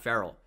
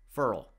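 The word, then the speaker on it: Ferrell: Ed Oliver, Quinnen Williams, Cleveland Farrell, and it's not Farrell. He doesn't say it like Will Farrell. He says it like referral. Farrell.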